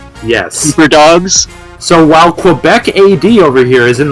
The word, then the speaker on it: Quebec: By the way, I love, Aiden, that you're saying Quebec right and Carter isn't. Whoa. Quebec. Quebec? Quebec, okay. The U doesn't exist. Quebec. Alright. It's French.